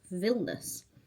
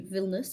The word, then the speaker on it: Vilnius: But my eyebrow technician says it's not pronounced Vilnius, even though that's how it's spelled. It's pronounced Vilnus.